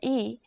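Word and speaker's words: 이: consonant are you ready your first vowel is e e this is pretty easy right practice writing this character as you say the pronunciation out loud as you say this simple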